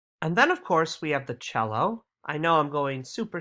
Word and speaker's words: cello: when you play the cello rhymes with hello um you play it